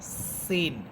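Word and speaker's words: س: কিন্তু সা এটা নরম হরফ, আর সিন এটা ঝিঝি পোকার মতো আওয়াজ হবে।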